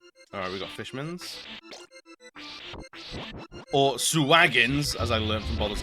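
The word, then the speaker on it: Sahuagin: Or Suwagins, as I learned from Baldur's Gate 3. Had no idea it's pronounced Suwagin.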